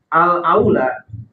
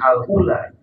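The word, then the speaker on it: أولى: untuk menjadi imam siapa alaula Bacanya jangan keliru jangan Alula Karena beda beda harakat beda makna kalau Alula itu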